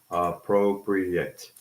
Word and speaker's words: appropriate: Okay, how do we pronounce appropriate? So again, 4 syllables, appropriate, right?